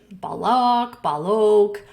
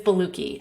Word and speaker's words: Boluoke: This supplement is called Beluki, and I have heard it pronounced a lot of different ways, like Boluoke, Boluoke. The correct translation or pronunciation is Beluki.